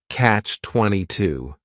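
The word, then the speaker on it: Catch-22: it's a compound noun the word catch is just one syllable and then 22 is three syllables and the stress is is on that final syllable Catch 22 the word comes from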